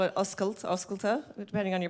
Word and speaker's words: Oscailte: Well, in honor of it being the Irish version of the Open that we had in Paris, and we call it Oscailte, depending on your pronunciation, I thought we should do an Irish version of the Hosting is Sexy t-shirt.